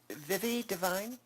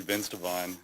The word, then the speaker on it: Vince Devine: this first name but it looks like Vivi divine I think I didn't say it correctly from the look on your face so my name's actually Vince Devine Vince yeah yeah I